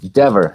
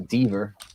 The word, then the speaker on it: Dever: So you know, it's Dever, not Deaver. Like clever, not Deaver. It's like the devil. Exactly. Devil, yes, that's like devil.